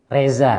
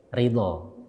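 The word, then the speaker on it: رضا: Reza ya, apa artinya Reza? Reza itu kalau bahasa Arabnya ketulisnya ridho, ya kan? Ridho, ro, dot, kemudian alif, ridho.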